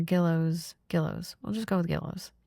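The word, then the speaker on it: Gillioz: I think it's pronounced Gillios or Gillows.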